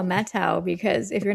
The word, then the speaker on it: Methow: I only say that cuz that's how I've heard other people say it, but if you look at you, you're like, "Oh, that's like the methau valley." But then, right. Yeah. So, but if you're a true local, Yeah. the metau.